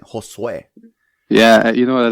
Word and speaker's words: Josue: It's Josue. Josue. Say it like with a Spanish accent. Josue.